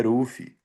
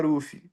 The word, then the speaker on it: Ruffy: Então no Japão eles fala Ruffy, tem pessoas que me chama de Ruf, né? No no Brasil a galera pronuncia como se lê, mas como na realidade a pronúncia correta é é Ruf, né?